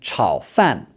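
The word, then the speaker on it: 炒饭: Then, chao fan is fried rice. Okay, so the word chao means to fry. So, this is also third tone and then fourth tone, okay?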